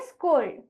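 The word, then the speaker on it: scold: अगला हमारा शब्द है एस सी ओ एल डी तो इस शब्द का उच्चारण हम करेंगे एस सी का उच्चारण होगा स्क ओ का नाम ओ यानी कि ओ का आवाज हमें ओ लेना है यहां पर एल की आवाज ल डी की आवाज ड तो इसीलिए इस शब्द का उच्चारण हम करेंगे स्कोल्ड अगला हमारा शब्द है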